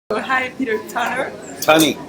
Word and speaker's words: Tunney: Tunney. Tunney. Rhymes with funny. Funny. Or money.